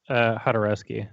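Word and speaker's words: Jodorowsky: He's Mexican, but it's pronounced Hodorowski.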